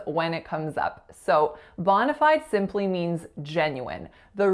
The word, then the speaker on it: bona: The first word is bona. Bona. So two syllables there. That first vowel is that low back open ah sound, and the second vowel is a schwa.